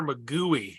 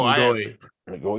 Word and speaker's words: McGoey: I have always called him Connor McGooey. It's not like a hard ooh. It's 2 O's. When he pronounced his last name, he said Oi. Oh, McGoey.